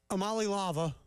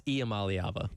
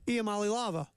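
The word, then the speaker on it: Iamaleava: All right, so our boy Nico Amali-Lava.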